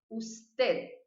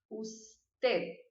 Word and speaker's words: usted: Usted. Ó, vou até virar a câmera para mim, para vocês verem minha linguinha. Ó, usted. Viu que ela ficou aqui parada?